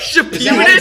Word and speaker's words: Shippuden: Is that how you Shippuden? say it? How do you say it? Shippuden.